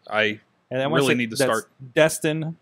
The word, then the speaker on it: Destin: Twitter, I really need to start Destin, not Dustin or anything. Destin, like with D-E.